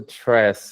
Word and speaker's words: Tres: It's a wrapper of 3DS at the end and it's pronounced tress in reference of the 3DS library.